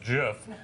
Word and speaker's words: GIF: irritating people the water cooler goes launch it's pronounced jiff does is why nobody goes to the water